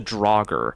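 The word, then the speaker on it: Draugr: It's called the Drogger. Um, it's spelled weird. Uh, D R A U GR, but yeah, basically it's a giant Covenant Siege tank.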